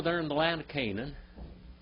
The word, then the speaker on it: Canaan: Way yonder over there in the land of Canaan, or Canaan, if you want to say it correctly, what did Abraham feed the angels and Jehovah?